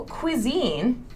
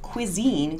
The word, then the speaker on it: cuisine: So cuisine, this word is pronounced cuisine, cuisine.